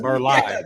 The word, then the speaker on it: Burleigh: to The, pronounce word Leigh is no, Lee. not the Y. She said it like the directions, like the maps. Oh yeah. That's it, Burley. I'm not Yeah. trying to be smart, y'all. The way y'all saying is that's how you probably should say Burleigh. it, brother. When you know Burleigh. to pronounce it correctly with No, yeah. Leigh is Lee.